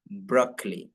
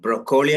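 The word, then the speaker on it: broccoli: ഭാഗത്ത് ഓ എന്നുള്ള ഭാഗത്ത് എന്താണ് ബ്രോക്കലി അലി അ എന്നുള്ള ശബ്ദമാണ് ബ്രോക്കലി ഓക്കേ ഒന്ന് വായിച്ചു നോക്കൂ ബ്രോക്കലി ബ്രോക്കലി ബ്രോക്കലി ബ്രോക്കലി ബ്രോക്കലി ബ്രോക്കലി ബ്രോക്കലി ബ്രോക്കലി ബ്രോക്കലി ബ്രോക്കലി ബ്രോ okay ബ്രോ കോളി അല്ല ബ്രോ ബ്രോക്കലി ബ്രോക്കലി പറഞ്ഞോളൂ പറഞ്ഞോളൂ വീണ്ടും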